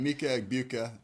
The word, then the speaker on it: Emeka Egbuka: Help me out with the pronunciation here, Coach. You talked with him, I think. Emeka Egbuka, is that correct? Emeka Egbuka, yeah.